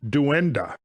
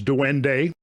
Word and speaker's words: duende: This object was nicknamed duenda or according to some uh pronunciations duende named after a goblin-like creature that was native to Iberian, Latino, and Filipino folk culture.